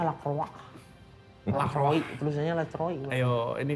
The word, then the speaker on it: Lacroix: Lacroix, bacanya Lacroix.